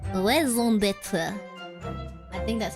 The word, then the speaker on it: raison d'être: How do you go about pronouncing it? For reference, in French, we would say it as raison d'être. Raison d'être.